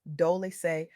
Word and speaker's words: Dolce: I'm your host, Dolce, pronounced Dolce, like sweet softness whispered in French.